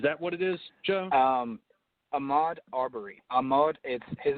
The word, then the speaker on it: Ahmaud Arbery: And then Joe will be covering another article on the, is it the Ardbury shooting? Is that what it is, Joe? Ahmaud Arbery. Ahmaud, his name is spelled Ahmaud, last name Arbery.